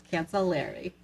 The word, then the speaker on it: Cancellieri: like to say that Paul cancellieri actually used the phonetic pronunciation on his form so we all know how to say it's cancel Larry love that how we should say it the correct uh French way I'm guessing Italian but it's an e not